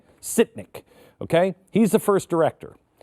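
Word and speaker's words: Sytnyk: Sitnik.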